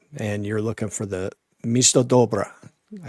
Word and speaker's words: Misto-Dobra: come right up and you're looking for the Misto Dobra.